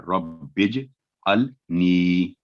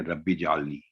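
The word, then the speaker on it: رَبِّ اجْعَلْنِي: उसके बाद ये है सही तलफ्फुज़, पहला साउंड है रब्बिज, यानी रा बा और जीम ये तीनों मिलके साउंड बन रहा है, रब्बिज अल नी, रब्बिज अल नी, तो बाद दफा गलती होती है रब्बी जालनी, तो रब्बी जालनी नहीं है ये, ना तो रब्बी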